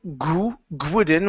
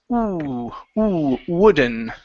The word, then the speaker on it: wooden: Instead of gwooden with a g sound, it's ooh wooden.